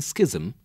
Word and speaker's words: schism: Ch is not pronounced in schism but pronounced as K in schizophrenia.